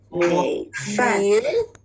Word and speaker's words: 米: 米饭，米饭， Yeah, 米 is the third tone. 米. 米饭， Yeah, 饭 is down. Yeah, 米饭.